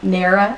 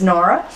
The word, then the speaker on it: Nara: which is yupo Nara I was corrected on how to pronounce Nara I say it in there because I'm from Texas but it's Nora Graphics craft plastic Graphics